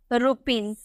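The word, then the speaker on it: rupees: हमें लिखना हो रुपीज, रुपीज को यहाँ पे हम इसे जौ में प्रोनाउंस करेंगे। क्यों, क्योंकि एस से पहले E देखने को मिल रहा है, एस से पहले अगर आपको डबल ई देखने को मिलेगा तो उसका उच्चारण हम जॉ में करेंगे, हम इसे बोलेंगे रुपीज।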